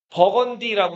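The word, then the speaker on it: Burgundy: 와인 유명하고 그 부르고를 영어로 쓰는 뭐라고 읽는다 그랬죠? 버건디라고 산다 그랬죠.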